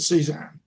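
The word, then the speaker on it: CESAAHN: I pronounce it C ZAHN.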